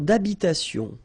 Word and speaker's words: d'habitation: Une tour d'habitation. Remember, H doesn't exist in French, well, in most of the cases, so it does mean that you don't pronounce it, all right?